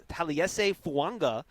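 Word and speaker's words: Taliese Fuaga: participating today uh talese who I realized I was pronouncing his name cor incorrectly so it's taliese fanga from Oregon State um he's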